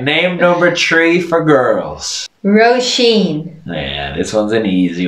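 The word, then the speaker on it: Róisín: all right named number tree for girls roshin yeah this one's an easy one yep so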